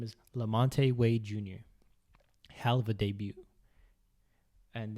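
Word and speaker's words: LaMonte Wade Jr.: i don't believe he's a rookie after all de monte wait uh what's his name wade junior let me get his actual name so make sure i pronounce it right his name is lamonte wade jr hell of a debut and then we had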